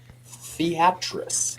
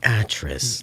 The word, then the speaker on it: Theatric: what's the proper way theatric theatric like theatrical get snarky like me